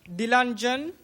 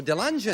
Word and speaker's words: Dilanjan: What is the exact pronunciation? Dilanjan. Dilanjan? Right, that's... Oh, Dilanjan. Perfect.